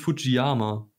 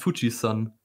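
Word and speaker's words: Fujisan: es ist nämlich es es heißt überhaupt nicht fujiama son heißt Fuji Sun ist einfach so das ist ein Übersetzungsfehler weil das das Zeichen für Berg sowohl aus Yama als auch als Sun ausgesprochen werden kann und es heißt aber Sun also fuiyama ist falsch liebe Freunde krass jetzt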